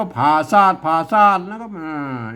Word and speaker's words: ผาสาท: บ่ ฮู้ ภาษา ล้านนา พวก เรา จะ มา อ่าน ว่า ปราสาท ปราสาท เนี่ย มัน ไม่ ใช่ นะ ครับ มัน ต้อง อ่าน ว่า ผ่า ซาก ผ่า ซาก แล้ว ครับ